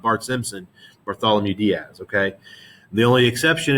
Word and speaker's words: Bartholomew: And so they keep pushing further and further and further and further down the west coast of Africa until Bartholomew is how that's pronounced.